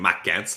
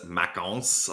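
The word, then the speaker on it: Maxence: for a long time i was always saying macgets but it's makons like you're saying so that's definitely a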